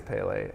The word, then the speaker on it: Pelé: I always said Pele, but I think it's Pelé.